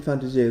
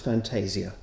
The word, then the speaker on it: Fantasia: Christmas Fantasia or Fantasia hands up anybody who thinks it should be pronounced Fantasia and and who's up for Fantasia right we three can I can I vote in V Williams as well he would certainly have pronounced it in Italian he liked using Italian